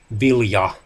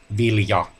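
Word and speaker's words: Vilya: rings of the elves be Lea spelled with the capital capital the i-l-y a meaning heir however it's pronounced exactly the same way as the finnish word for grain delia which is written according to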